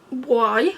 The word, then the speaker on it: Boie: Boie, I think that's how you pronounce it.